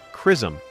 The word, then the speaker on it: XRISM: This discovery came from ZRISM, pronounced Chrysom, a cuttingedge X-ray imaging and spectroscopy spacecraft led by Japan with major support from NASA.